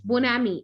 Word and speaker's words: bonhomie: Okay, next is a bonhomie. Okay, now what is bon? No, it's not homie. Okay, it's bonami.